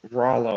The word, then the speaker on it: Rolo: extremity how's rolo pronounced it is pronounced like um yeah like rollo like soft dough rollo hmm right not like that not like the uh not like the truncated cone filled with caramel uh yeah i guess